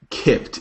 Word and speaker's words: Kippt: Well, now, what is it called and how do you spell it? Kipped.